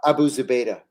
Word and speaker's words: Abu Zubaydah: Abu Zubaydah.